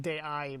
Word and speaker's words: DAI: DAI stands for I pronounce it day-eye by the way, the international way.